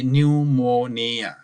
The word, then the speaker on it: pneumonia: culprit is the pneumonia see the spelling of pneumonia P is silent we don't cure this P while pronouncing we say pneumoniae but the spelling is pnemonia don't stay the pnemonia and the urinary tract